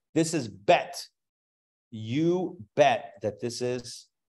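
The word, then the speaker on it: בּ: answer for that but typically when it has a DOT the dot makes a harsher sound okay so versus the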